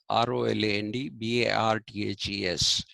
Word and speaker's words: Roland Barthes: And another myth uh, writer about myths, his name is Roland Barthes. It is in English, Roland, R-O-L-A-N-D, B-A-R-T-H-E-S, Barthes, but he's a Frenchman, and it's pronounced Roland Barthes.